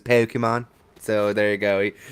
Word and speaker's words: Pokemon: As long as he doesn't say Pokemon and like really pronounce the E. Yeah. Even though I'm not a Pokemon fan, that annoys the crap out of me. It's like the accent makes it like an A sound, so it's Pokemon.